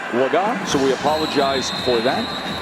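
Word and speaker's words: Legas: And we just got word that the preferred pronunciation of this quarterback is Cooper Lega. We've been saying Lega, a guy who wasn't expected to play, hadn't thrown a pass in his entire career. Preferred pronunciation, Lega, so we apologize for that, but we will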